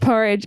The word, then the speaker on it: Burridge: it's fine no it it rhymes with porridge and when I didn't